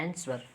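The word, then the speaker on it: answer: एस के बाद डब्लू हो तो वहाँ भी डब्लू साइलेंट हो जाता है, एस के बाद देखिए एस डब्लू है ना, आंसर, तो वहाँ भी साइलेंट है।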